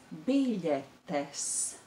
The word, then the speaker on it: biļetes: So that word is biļetes. Biļetes. That difficult consonant is the consonant I, the L with a comma underneath.